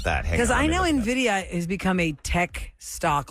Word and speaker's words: Nvidia: seem to pronounce and this Tech Giant uh is spelled NV d i a nvida Nvidia Nvidia Nvidia and the problem with what's their